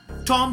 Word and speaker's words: tomb: तो इट्स नॉट टॉम, इट्स टॉम. TOM, B silent है, इट्स टॉम.